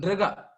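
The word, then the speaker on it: Nṛga: King Nriga, Nrga. It's quite difficult to pronounce. It is King Nriga.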